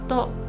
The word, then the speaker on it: と: Particle to. This is a connecting particle. It's pronounced as to and it means and in English.